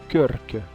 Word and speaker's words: Krk: Nous voilà donc partis en direction de Körk. Il faut bien rouler les R quand tu le dis, et ça s'écrit KRK.